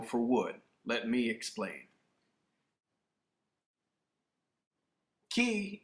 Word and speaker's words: Qi: Qi energy, or some pronounce it Kai energy, is the energy of life in the philosophies of Asia.